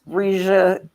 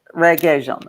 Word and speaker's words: Regé-Jean: And I mean, who cannot love it's Regia, how do you, I don't know how you pronounce it. Regé-Jean.